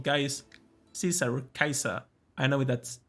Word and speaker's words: Caesar: he called guys cesaro kaiser i know that's how it's actually pronounced if you didn't know so in classical latin the letter c is actually pronounced like a k so it's a hard